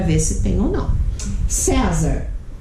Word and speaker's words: César: César. César. É uma paroxítona terminada em R.